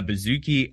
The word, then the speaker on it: bouzouki: A bouzouki, a doumbek, and an oud.